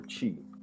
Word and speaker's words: Twi: It's Twi or Chi, as it's actually pronounced.